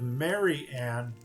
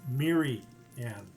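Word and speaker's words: Mirianne: Instead of Mary Ann, it's Miri Ann.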